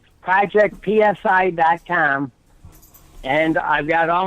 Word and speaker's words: psi: is spelled psi what's the P is silent it's like pneumonia or a pterodactyl the P is silent project psi calm and I've got